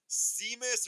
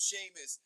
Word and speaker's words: Seamus: His name's Seamus, but it's spelled Seamus. I know, Apple Ricky. I know, I know. I almost said Seamus though, but I was like, oh, it's Seamus.